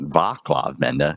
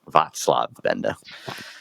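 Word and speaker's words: Václav Benda: podcast which we just found out we were pronouncing wrong it's not VAV Benda it's vatslav Benda so he's going to come up some parallel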